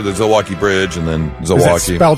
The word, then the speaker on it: Zilwaukee: I know the Zilwalk Bridge and then Zilwaukee, spelled like Milwaukee but with a Z.